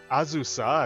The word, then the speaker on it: Azusa: In the previous episode, we took on the squad story to Live Unbound, involving Azusa, as her name is actually pronounced, Scott, and Norid, who attempted to help Azusa escape from her ties to her clan back east.